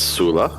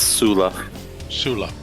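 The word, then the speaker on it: Tsula: fine but yeah it's Sula Sula the t is silent okay Sula it is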